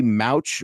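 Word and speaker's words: Mauch: give you another guy Cody mouch or I've been calling him Cody mock saying his last name wrong the entire draft class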